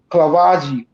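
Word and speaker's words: Clavijo: back with more at the fictional battle of klavaji I can't pronounce that word c-l-a-v -i-j-o Santiago was known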